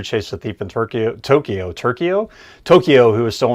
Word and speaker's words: Tokyo: what what did you say in place of Tokyo turo turo is turo is the capital of Japan